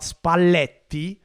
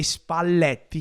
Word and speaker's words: Spalletti: tactics and talking about spalti who can't say spalti he says spalti spalti again the double pronunciation of the El that's actually listen my